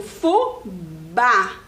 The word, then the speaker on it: fubá: Porque o fubá, eu falo bem forte essa letra A.